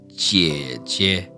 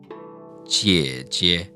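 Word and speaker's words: 姐姐: When you double that character, or any third tone character, the second one, in most cases, is gonna become a neutral tone. So this would be pronounced jie jie.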